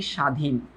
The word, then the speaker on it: স্বাধীন: লিখি স্বাধীন, স্বাধীন, হ্যাঁ, একটু খেয়াল করে দেখো তো এই ব ফলার কি কোনো ভ্যালু আছে? উচ্চারণ হচ্ছে? হচ্ছে না তো। তুমি কি বলতেছো? তুমি নর্মালি বলতেছো সা, তারপর বলতেছো ধীন, স্বাধীন, কি বলতেছো? স্বাধীন। এই ব ফলার উচ্চারণ তো নাই।